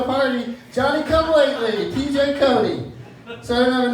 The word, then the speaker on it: Cote: My last name is Cody, spelled c o t e. Very easy to spell and very difficult to pronounce, as it were.